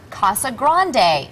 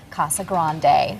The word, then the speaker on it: Casa Grande: Mia says cassa Grande roll the r in Grande Grande and Sarah fuler